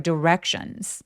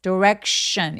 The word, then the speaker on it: direction: I asked a stranger for directions. direction. 입술 쭉 내밀어 주세요. 맨 마지막에 션. 이렇게 TI나 CI나 SI처럼 오는 발음들은요. 입술을 쭉 내밀어서 SH처럼 발음합니다. direction 아니고 direction. 입술을 조금만 내미시면 훨씬 더 쫀쫀한 소리 낼 수 있어요.